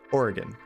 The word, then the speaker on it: Oregon: say the state Oregon would you say it as two syllables or three syllables I've always said it as to Oregon and there's like a very slight riff and there Oregon but it's still two syllables you get invited to